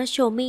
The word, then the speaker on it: Chaumet: เข้า มา คอมเมนต์ ว่า ถ้า เป็น ภาษา ฝรั่งเศส ก็ ต้อง อ่าน ว่า โชม นะ คะ ดัง นั้น ค่ะ จาก นี้ ไป ฉัน ก็ จะ อ่าน ว่า โชเม่ แล้ว กัน นะ แม่